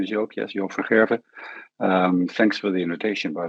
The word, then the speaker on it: Joop van Gerven: And then we have Joop van Geven, if that's correctly pronounced. I apologize. Thank you. Yeah, no, that's fine. My name is Joop. Yes, Joop van Gerven.